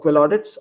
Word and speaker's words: QuillAudits: so just look us up on uh about quill Audits and uh you you can you can connect